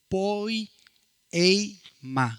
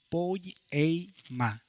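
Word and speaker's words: ποίημα: Poy, ey, ma se escribe en el griego, se pronuncia en griego poy e ma. Como lo escucha po e ma.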